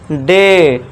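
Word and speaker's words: day: अब देखिए डी के देखिए ए के बाद क्या आ रहा है? वाई आ रहा है। तो इसे क्या पढ़ेंगे? डे। ड नहीं डे।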